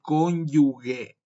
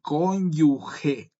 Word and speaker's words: cónyuge: Bien, esto para aclarar en cuenta, no se dice cónyugue, se dice cónyuge.